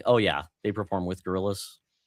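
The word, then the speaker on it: Gorillaz: Oh, the gorillas.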